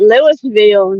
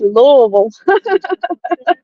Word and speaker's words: Louisville: how to say it some people about Lewisville no it's Lille I approachable lot I